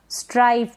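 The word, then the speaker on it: strife: है स्ट्राइफ यानी अनबन ये स्ट्रिफ ना पढ़े इसको स्ट्रिफ पढ़ दे नहीं स्ट्राइफ मतलब अनबन तो आपकी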